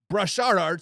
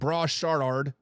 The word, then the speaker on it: Brashard: And then in the seventh round pick, they drafted running back Brashard Smith. I'm saying his first name wrong. Raw Shard Smith out of S SMU.